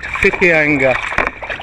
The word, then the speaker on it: Whitianga: We've been paddling for half an hour and we've just left the beachfront resort in Whitianga, pronounced WH spelling, Whitianga, but pronounced Whitianga.